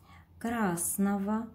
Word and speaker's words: красного: Красного. Говорим красного, а писать нужно красного.